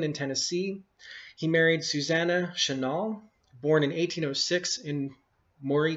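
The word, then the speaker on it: Chenault: anglicized version of the original French name, which was phonetically identical Chenal, but pronounced or spelled C-H-E N-A-U-L-T.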